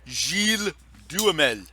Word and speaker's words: Gilles Duhamel: I am an immigrant from France and it is a French name, so it is pronounced Gilles Duhamel.